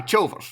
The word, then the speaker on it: Chilvers: How would you pronounce his surname as well? Actually, is it Chilvers or? Aye, Chilvers. That was how you pronounce it, wouldn't it be? Chilvers. I think so.